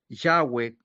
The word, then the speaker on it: Yahweh: Su nombre, el Altísimo Jehová, Yahé, Yahweh, como se pronuncia en hebreo, eh no debe ser tomado en vano.